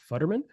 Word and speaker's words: Futterman: Today on the show, we have Futterman. Did I pronounce that correct?